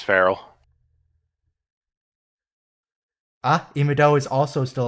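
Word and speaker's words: Farrell: or is it farell how do you pronounce her last name is it frell or farell I'm pretty sure it's frell ah imido is also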